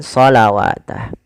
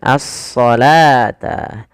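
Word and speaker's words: الصلاة: Jangan terkecoh dengan huruf wunnya. Ah hati-hati. Kadang-kadang memang kita kalau tidak jeli dia akan terkecoh ya. Dia membacanya dengan shawatah. Padahal di sini adalah bentuk rosem saja dalam penulisannya, yaitu dia apa? Dia dibaca dengan asalata asalata.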